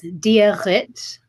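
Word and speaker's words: Dia dhuit: And it's diarit in Irish. Yeah, you got to have that in the back of your throat for a lot of things.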